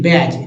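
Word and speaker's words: badge: एज में D silent है बैज में डी साइलेंट है देखिए बी ए डी जी ई बैज क्या बोलते बैज ब बैज बैज जो लगाते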